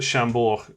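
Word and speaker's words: Chambord: we go just put chambor liqueur in the comments there so you can see how it's spelt but you don't pronounce the d but what flavor is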